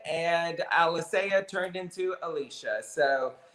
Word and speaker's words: Alicea: when I introduced you, I wanted to say Alicea. Yeah, it's how you say it. The way you say it. And everywhere I hear people calling you Alicea, and I was like, no, it's Alicea, bitch. Right, it is Alicea.